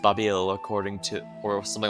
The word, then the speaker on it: Babil: of babel yeah it's obviously a reference to the tower of babel but it's pronounced babil according to or something